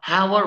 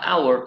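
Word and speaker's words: hour: الصوت وليس الحرف طيب الكلمه دي بتنطقها هاور ولا اور لا بننطقها اور يبقى تتعامل مع الصوت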